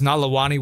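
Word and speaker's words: Nalewanyj: It's Nalawani with a silent J.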